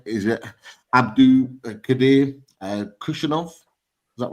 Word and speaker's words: Abdukodir Khusanov: Hope I'm pronouncing his name right. Is it Abdukodir Khusanov?